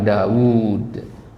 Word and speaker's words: Daud: dia itu unik ya Daud itu Daud itu bacanya panjang ya padahal wwnya cuman satu di tulisannya jadi kalau kita nulis di kitab Daud wwya satu aja ya wwya satu aja tapi dalam pengucapannya wwnya Jadi dua ya dibaca panjang Daud gitu ya kemudian ada